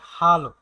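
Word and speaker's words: Hallo: আমরা সবাই এখন হ্যালোটা ইউজ করি। কিন্তু এর উচ্চারণটা হচ্ছে হালো।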